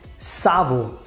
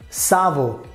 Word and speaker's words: savon: So in French language, we call it savon. Savon.